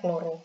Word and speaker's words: kloro: Jadi membacanya kloro, bukan klor atau klorin.